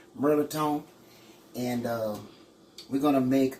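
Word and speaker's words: mirliton: But at home, we call it Militon. It ain't even spelled that way. It's pronounced Merliton.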